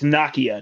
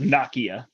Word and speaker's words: Nakia: with Bruno there's this I think it's Nokia did you watch the show no I did not watch the Show Gotcha yeah it's pronounced Nakia we stopped watching um